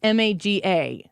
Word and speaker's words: MAGA: my answer to it how do you pronounce m-a-g-a if I'm spelling it it's obviously Maga Mega say it with the emphasis on this it was like a Sega yeah um no I